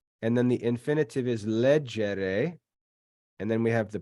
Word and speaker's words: legere: And then leggere has the accent on the third to last syllable because that E is short.